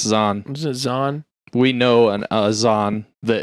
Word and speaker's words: Zahn: and E okay and Steve Zane is z-a-h-n isn't that Steve Zahn yeah that's zon we know an Azan